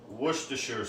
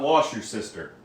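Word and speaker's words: Worcestershire: So, we are going to add some woroo sauce. That is how you say it. Woo. It's not wash your sister.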